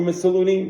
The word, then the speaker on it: Mussolini: But there was a point where Mussolini, how do you pronounce it?